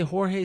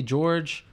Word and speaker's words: Jorge: And by the way, some say Jorge, some say George. It's Jorge, right?